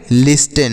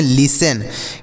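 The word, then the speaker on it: listen: पढ़ेंगे लिस्टन क्या पढ़ेंगे लिस्टन नहीं सर इसे लिस्टन नहीं पढ़ते हैं तो फिर क्या पढ़ते हैं प्यारे बच्चों इसे हम पढ़ते हैं देखिएगा इसे क्या पढ़ते हैं इसे हम पढ़ते हैं लिसन क्या पढ़ते हैं लिसन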